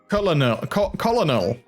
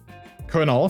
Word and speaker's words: colonel: I mean, I would expect you to say colonel or something like that, because that is how you write it, but that's not how you say it.